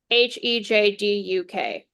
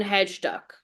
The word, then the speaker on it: Hejduk: Spell it? Hejdunk. No N. Hejduk. So I called him Milan Hedge Duck.